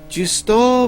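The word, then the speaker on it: Juste: how it says that his name should be pronounced just OH giusto velmont just all it's how they pronounce it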